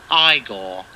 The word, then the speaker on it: Igor: movies and his interpretation of igor now it's pronounced igor but they told me it was eagle well they were wrong then weren't they for